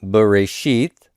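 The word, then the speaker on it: בְּרֵאשִׁית: without the vowel points this would be written bore a sheath bara Elohim or it would be pronounced that way now just because Hebrew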